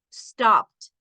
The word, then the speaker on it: stopped: Suena como T. Looked. No suena ed. No suena ed aquí. Looked, relaxed, stopped. Yeah.